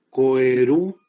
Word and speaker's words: coeruleus: Se escribe como se oye locus, pero se escribe coeruleus.